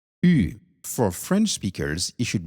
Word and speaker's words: Ü: Ü. For French speakers, it should be easy, right? Ü. In English, you would compare it to you, or U, but you try to say E with your lips rounded.